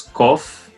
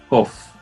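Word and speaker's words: קוף: Após Tzad, nós temos Kof, que ela sempre vai ter som de K, como a letra Kaf, Kof.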